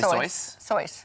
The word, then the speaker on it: Seuss: the next part because okay, it rhymes with voice. And so, yeah, I was going to say yes at first, but... Dr. Seuss. Then you messed me up with I'm your sorry. Laughing. I didn't okay. mean to I was laughing because I was like... And they changed it to Seuss so that most people could... Say it but you could, I think yes. people could say sois. Like soy sauce?